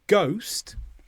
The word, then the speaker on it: ghost: So ghost, the h is completely silent.